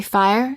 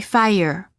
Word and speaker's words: fire: There is a slight sound that is added after certain vowels, making it sound almost as if the word contains an extra syllable. For example, fire. Don't say fire, say fire.